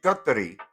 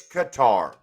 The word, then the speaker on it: Qatar: be correct, I mean, well, Qatar and Katar and Katar and Katari is the Arabic pronunciation. I don't expect people actually, you know what? In fact, I've changed that. It's Qatar. That's how Americans say it.